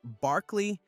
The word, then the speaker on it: Berkeley: George Berkeley Berkeley pronounced Barkley was born in Ireland in 1685 and lived until 1753.